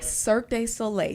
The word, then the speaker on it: Cirque du Soleil: Cirque du Soleil.